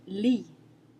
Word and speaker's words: lit: Another example ending in a T is the word lit, which means bed. Lit. You don't hear the T at the end anytime a T comes at the end of a word in French.